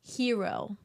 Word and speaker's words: gyro: you know that that dinosaur that attacks the gyro on the cliff pronounced hero whatever yeah I refuse to pronounce those machines that way